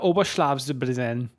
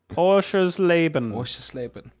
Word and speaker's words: Oschersleben: Ja, the Motorsport Arena Oberschlafsbrennen. Which I'm sure is how you pronounce that. Are you okay? Do you need to call a doctor? Oschersleben.